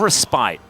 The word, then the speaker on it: respite: a little bit of respite or respit depending on how you want to pronounce it how do you pronounce